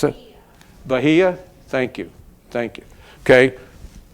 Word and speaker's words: Bahia: or Bahia Brazil does anybody know how to pronounce it bahah thank you thank you okay so the unfailing